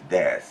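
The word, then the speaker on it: です: But in this kind of situations, always des, and the last U is silent.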